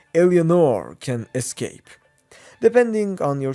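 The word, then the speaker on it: Eleanor: At the end of Bioshock 2, Delta sacrifices himself to so Elanire or as the right pronunciation goes, Elenor can escape.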